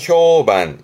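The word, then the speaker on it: 評判: 뒷자 판 그래서 평판 발음은 효반 효반 평판이라는 자체가 효반대 그러면 평판이 좋다라는 미로 많이 쓰기도 하죠.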